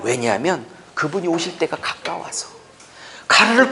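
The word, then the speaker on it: γάρ: 그게 가르예요. 가르. 가르라고 읽어 저거를.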